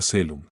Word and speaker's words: coelum: Si las vocales a Ee y OE forman diptongo, se pronuncia como e sola. Ejemplo, coelum suena selum.